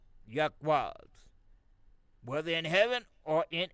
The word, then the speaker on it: YHWH: The reason why we use YHWH which we pronounce Ywa the four letters.